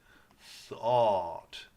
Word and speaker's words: thought: OUGH says aw. Ought. Thought. Thought.